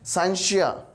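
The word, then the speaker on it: scientia: है जिसका मतलब है, जो कि लैटिन वर्ड हम यूज़ करते हैं साइंशिया, साइंशिया इसको पढ़ते होते हैं, डिफरेंट प्रोनाउंसिएशन में लिया जाता है इसको, लेकिन हम इसको साइंशिया पढ़ते हैं, विच मीन्स जिसका मतलब होता है नॉलेज, इल्म।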